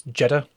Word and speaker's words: Jeter: Michael, you're saying it wrong. It's It's Jetta.